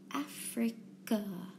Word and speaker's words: Africa: Africa. Africa. So the beginning in Africa, sounds like a short A, but the last syllable, Afri,